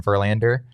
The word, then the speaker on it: Verlander: My second one would be still most completely unrealistic, frankly, but I think Justin Verlander, having him come to Arizona would be. How do you say that again? Justin Verlander.